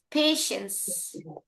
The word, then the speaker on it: patience: Patience.